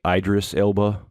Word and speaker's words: Idris Elba: Yeah, I love, I believe it's pronounced, is it Idris Elba?